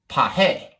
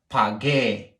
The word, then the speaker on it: pagué: If you have pag and then e, that is actually pronounced pahe. But that's not what we want. We put the U in there, so now it's pagué.